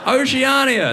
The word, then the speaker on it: Oceania: Oceania, named after an ocean, famously the opposite of continents. The ocean rhymes with Narnia.